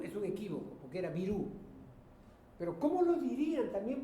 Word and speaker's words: Virú: en la sierra entonces en la sierra hay una tendencia a pronunciar la i casi como una e no casi como una e nadie dice exactamente así Silva sino algo así como selva o sí O me equivoco